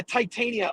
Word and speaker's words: Titania: a court case yeah titania i almost said titan which i think you know you could easily mispronounce but uh no it's